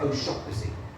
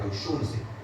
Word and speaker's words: O'Shaughnessy: The correct way of pronouncing that is O'Shaughnessy. And in England and America we usually say O'Shaughnessy. But where I live in Ireland, on the west coast, a lot of people pronounce it O'Shaughnessy.